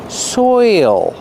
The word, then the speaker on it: soil: is soil pronunciation soil you have the oi sound followed by the dark l soil there's an extra